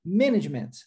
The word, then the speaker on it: management: E aqui, management, é importante dar ênfase aqui à pronúncia dessa palavra, com a sílaba tônica no início, né? Nós temos management, ok?